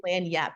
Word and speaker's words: lagniappe: right away, which is lagniappe. It actually, if you wanted to Google it, is spelled login app a like that is what it looks like, but it is lagniappe.